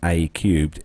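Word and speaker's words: A³: But a new project from Airbus's Group Silicon Valley unit, pronounced A cubed, is imagining a future without a direct view of the sky.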